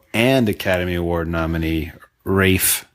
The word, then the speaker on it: Ralph: a Academy Award nominee Rafe not pronounced Ralph Rafe fins not pronounced fin